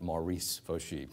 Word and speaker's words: Morris Foshee: by my great-great-great grandfather whose name was Morris Foshee though they pronounced it Maurice faux sheep and odd pronunciations and